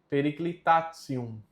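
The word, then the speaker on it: periclitantium: Periclitatium.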